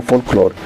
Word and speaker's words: folklore: Tú sabes que que la palabra folklore, que se escribe folklore y se pronuncia folklore, eh, implica el conocimiento natural de los pueblos.